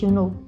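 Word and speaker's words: Yunho: Escreve-se Y-U-N-H-O, mas diz You Know.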